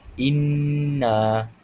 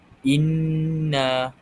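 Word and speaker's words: إِنَّا: Jadi kita boleh lihat di sini cara bacaannya dibaca dengung dua harakat. Jadi hamzah huruf alif dan hamzah di bawah baris bawah saktah bertemu dengan nun syiddah. Iaitu kita perlu baca dengan dengung sepanjang dua harakat.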